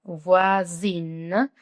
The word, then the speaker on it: voisine: Voisine. Prononcio hasta la N.